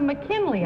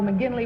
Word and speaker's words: McGinley: And number 2 said Father McKinley, I thought, and it didn't pronounce it quite right. And I thought number 3 said Father McGinley, which is correct.